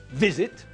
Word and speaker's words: visit: But if the verb has got more than two syllables and the last part of the word isn't stressed, then we don't double the last letter before we add the ing ending.